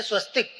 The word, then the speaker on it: स्वस्तिक: चिन्ह, विजय चिन्ह है स्वस्तिक। स्वस्तिक पर जब हार्मेंट अंसर्ट जैसा साइंटिस्ट रिसर्च करता है तो वो पाता है कि स्वस्तिक में, स्वस्तिक यानी स्वास्तिक भी उसका उच्चारण होता है, उसमें 10 लाख बोबिस स्केल पॉजिटिव एनर्जी है।